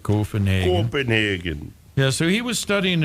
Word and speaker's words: Copenhagen: Actually pronounced it right, Copenhagen.